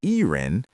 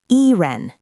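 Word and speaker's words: E人: When Chinese people say I-ren, they don't pronounce the I using the Chinese pinyin I. They pronounce it like the English letter, I. And the E in E-ren is pronounced like the English letter E.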